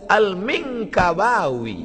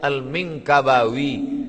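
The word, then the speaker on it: al-Minangkabawi: wau ya sembilan huruf saya masa tengok apalah cara baca ni Alif Lam Mim Nun Kaf ba Alif wau ya rupanya lama saya baca almingabawi Minangkabau Syekh Ahmad Khatib alminkabawi nama dia Ahmad Khatib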